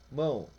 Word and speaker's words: mão: por exemplo mão pronuncia-se mão que quer dizer escreve com o mas se pronuncia com u e mesmo caso mãe